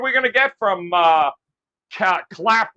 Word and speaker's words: Clapton: Not Captain, Clapton this time. Oh, Clapton. All right, before I address Clapton, let me address my esteemed colleague there who was mouthing off. I only have a 2-word rebuttal. Oh. Stiletto boy. Oh, all right. wow. Let's just move on to Clapton. And Clapton rhymes with Slapton, and that's what Sig